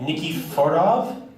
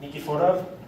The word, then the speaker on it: Nikiforov: All right, Victor, if I'm saying this last right, Nikiforov from, how do you say it? Nikiforov, I'm saying it right?